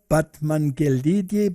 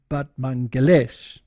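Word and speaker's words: Batmanghelidj: Now, there was a scientist, and his name was this one over here, Batmangelidi, but apparently you pronounce it Batmangelesh.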